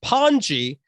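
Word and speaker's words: pany: inherits the title of pawnee p-a-n-y pronounced panji and that title has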